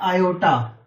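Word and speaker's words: iota: ठीक है, और इसको आई प्रोनाउंस करते हैं, और इसका जो प्रोनाउंसिएशन है, करेक्ट प्रोनाउंसिएशन, वो है आयोटा।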